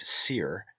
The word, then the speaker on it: soir: Therefore we have the heavenly wolf Osiris, meaning the high eastern sun, from os, high, and soir, pronounced seer, and meaning east, hence the morning sun.